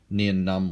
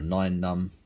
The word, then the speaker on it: Nien Nunb: One of my favourite figures of all time, Nien Nunb or Nine Nunb, depending on your preference and pronunciation.